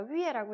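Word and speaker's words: 月: 그래서 표기는 Y, U, E라고 표기를 하고 읽을 때는 어떻게 읽는다? 위에라고 읽습니다.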